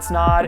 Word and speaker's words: Snaadt: My name is Snaadt. It rhymes with odd, and I'll see you next week.